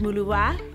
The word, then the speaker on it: Muluba: My name is Maluba, pronounced Muluwa in my mother tongue.